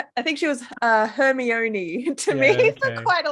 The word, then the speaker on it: Hermione: excellent memories of pronouncing names the way Mom pronounced them which was hilariously yeah I think she I think she was a Hermione to me for quite a long time yeah yeah I always thought it was Hermoine hopefully just because it makes sense yeah phonetic